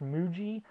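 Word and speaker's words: mju:: They were called, I believe it's pronounced Muji, but it's just MJU. was the name of it in wherever it was originally released.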